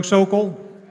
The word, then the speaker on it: Sokol: Sokol, Florida delegation, I would like to nominate Eric Parker from North Carolina.